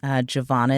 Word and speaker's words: Jovonia: So, yes, I go by. Jovonia is how you say my first name.